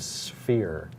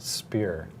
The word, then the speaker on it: sphere: mispronounced was the word sphere and I always thought it was pronounced spear Oh interesting and silly